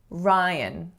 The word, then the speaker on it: Ryan: Ryan. So the strongest syllable you can hear is the first, and then the second syllable has to be schwa. Ryan.